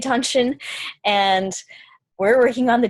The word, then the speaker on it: Dantian: There's a lot of different ways to spell it because it is a transliteration of a Chinese word, or 2 words, I don't know, but you basically say it Dantian, and we're working on the Dantian centers.